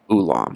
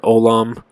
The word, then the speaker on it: Olam: of the two words ulam and Olam they're pronounced virtually identically um if you wanted